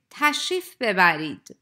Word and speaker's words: تشریف ببرید: Please notice that in fast-spoken Persian, re is not pronounced in tashrif bebarid, and native speakers would say tashrif bebarid.